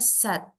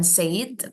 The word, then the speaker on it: said: Ini bacanya sad. Kayak kita ngomong sedih. Sad, Sad. sad, sad, Ya. sad, Kayak kita ngomong sedih. Pronuncianya sama. sad. Ya. Gunawan sad. Gunawan said, Ya, bukan said, tapi sad.